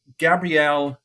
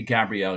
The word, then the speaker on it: Gabriel: HS is easy Martinelli but Gabrielle it just has to be Gabrielle because it's never gonna it's not g Gabriel has a kind of